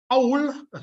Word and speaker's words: cawl: Number 3, often described as the national dish of Wales, cawl, as it's pronounced, is a soup or stew made most commonly with which meat?